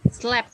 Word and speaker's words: slept: Slept bacanya. Slept. Oh, Ya. pakai T. Slept. Slept. Ada T-nya. Slept.